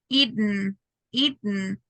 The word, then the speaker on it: eaten: the gloral pronunciation so when we have a letter N in the last syllable we try to like stop in letter T and then it's just